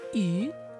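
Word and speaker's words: 鱼: In China, fish symbolizes abundance because the pronunciation of the word fish, yu, sounds like the word abundance, yu.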